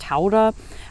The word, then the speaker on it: Gouda: like havarti and gouda which in the netherlands is actually pronounced taurah i love that cheese